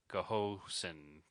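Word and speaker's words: Ghosn: to pronounce it because I thought it was Goan it's not Goan because it's G hosn so it's like Goosen go go I know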